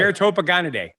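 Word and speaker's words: Ceratopogonidae: And did you look it up on how to pronounce it? I did. Okay. Ceratopagonidae.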